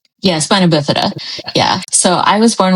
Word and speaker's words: spina bifida: Yeah, spina bifida.